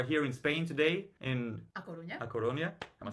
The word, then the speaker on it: A Coruña: So basically we are here in Spain today in A Coruña. A Coruña. Am I saying it right? A Coruña, Okay, yeah.